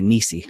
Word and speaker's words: NiSi: the missy filters so I'm sorry nisi I've been saying it wrong for so long it's hard to break the habit now that I know the official way to pronounce it so nice he makes the really